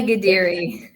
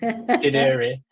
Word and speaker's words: Ghadiri: Today, we have a special guest called Mona Ghadiri. Sorry, I couldn't pronounce his surname. No, it's okay. Mona Ghadiri. Ghadiri.